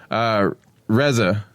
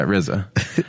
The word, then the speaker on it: RZA: Yeah, RZA. Yeah, Reza. Oh my lord! Well, how do you pronounce 3 letters? Okay. Like RZA? I could say Reza. I don't think there's any wrong way to say it.